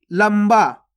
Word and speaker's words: लंबा: लंबा, देखो यहाँ पे आधा माँ का उच्चारण हो रहा लंबा।